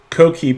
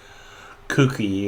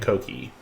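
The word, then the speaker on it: Coquí: And I hope I'm pronouncing that right. I hope it's not a cookie or something like that, but I'm pronouncing it Coqui.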